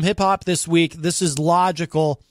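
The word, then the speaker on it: Logicl: This is Logical. He spells it in all caps, and it is spelled L-O-G-I-C-L, Logical.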